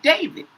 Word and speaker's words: d4vd: He spells it different but he pronounces it David.